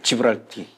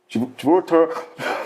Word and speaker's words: 지브롤터: 발음을 잘하세요. 예. 예, 지브랄티. 예. 지브롤터 그래서 모로코를 저기 이제 장악을 한 건데 저기를 이제 그래서 이스라엘이 거점으로 활용하고 있고요.